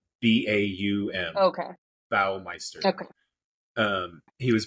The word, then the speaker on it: Baumeister: Bowel or Bow? Baum.